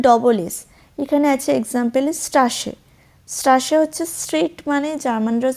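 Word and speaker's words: Straße: এসে সেট দিয়ে হচ্ছে নরমাল এস এর মতনই উচ্চারণ হয় কিন্তু ওটা ডবল এস এখানে আছে এক্সাম্পেল স্ট্রাসে স্ট্রাশে হচ্ছে স্ট্রেট মানে জার্মানরা স্ট্রাসে বলে আশা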